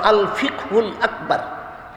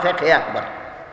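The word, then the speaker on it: الفقه الأكبر: এটার সঠিক উচ্চারণ হলো আল ফিকহুল আকবর, সংক্ষেপে বলা হয় ফিকহে আকবর।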